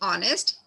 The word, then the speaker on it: honest: Some words have initial consonants which are not pronounced. For example, H in honest, W in wrap, K in knock.